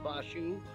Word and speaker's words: Faku: It's actually pronounced Fashu, but it's spelled Faku, so everybody's always called him Faku.